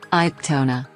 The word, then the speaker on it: Cantona: Eric Daniel Pierre Cantona, French pronunciation, Cantona, born May 24, 1966, is a French actor and former international footballer for the French national team.